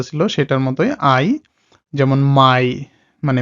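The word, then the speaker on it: Mai: সেটার মতই আই যেমন মাই মানে মে মাসের নাম যেটা আমার মে এটার উচ্চারণ হয় জার্মান ভাষায় মাই স এ আই এর উচ্চারণটাও হল আপনার আই এর মত মানে প্রথম যুক্তমানটার মতই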